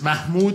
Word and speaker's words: Mahmoud: where i live in the south they can't pronounce my real name which is mahmoud i was born in iran and that's